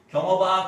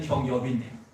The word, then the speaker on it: 경엽: 그리고 어릴 때 친구들이 경업아, 경업아 이렇게 불렀어요. 사실은 경엽인데요. 발음을 못해요, 제 친구들이.